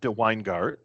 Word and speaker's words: DeWynGaert: So I have as a guest here, Paul DeWynGaert. Did I pronounce your name correctly, Paul? That's correct. Okay, it's sort of a old Dutch pronunciation, right?